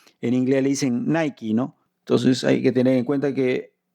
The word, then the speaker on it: Nike: Igual la palabra Nike, acá puse Nike, porque como se escribe parecido a la palabra like, en inglés le dicen Nike, ¿no?